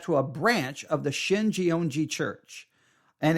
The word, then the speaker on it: Shincheonji: Shinjeonji is spelled SHINCHEONJI.